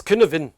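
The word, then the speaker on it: Cynefin: In doing that, I came across this Kinevin, that's how it's pronounced, Kinevin model.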